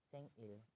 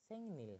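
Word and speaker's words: 생일: Beda lagi kalau Sengil. Nah, kalau kita ikuti aturan tersebut, maka harusnya itu kan dibacanya Sengnil kan? Harusnya kan dibaca Sengnil, tapi itu enggak dibaca Sengnil, tapi dibacanya Sengil.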